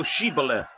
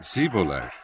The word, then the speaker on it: Shibboleth: If he said, Nay; 6 Then said they unto him, Say now Shibboleth: and he said Sibboleth: for he could not frame to pronounce it right.